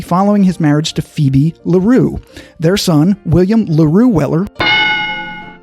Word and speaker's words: Larue: mispronounced william l weller's middle name incorrectly i pronounced it laurie l-a-u-r-i-e and it's actually larue l-a-r-u-e so i have a little bit of